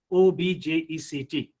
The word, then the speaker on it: object: these words as noun obj ect so how will how you will pronounce it you will pronounce it as object you have to give stress on ob why the reason is